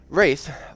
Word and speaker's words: Rathe: Rathe, R-A-T-H-E, not spelled like a ghost.